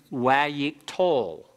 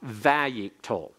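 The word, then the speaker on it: wayyiqtol: of the prefix letter, we call them wayik-tol, or in the modern Hebrew pronunciation, vayik-tol.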